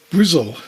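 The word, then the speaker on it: Bristol: for our next item we go to brizzle as it's often pronounced and it's the it's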